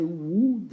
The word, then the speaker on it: would: like I would like ne dites pas W on prononce pas le l on dit i would like I would like to